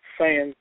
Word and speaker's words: Saiyan: Saiyan, I'm pronouncing it right? English, yeah, Saiyan.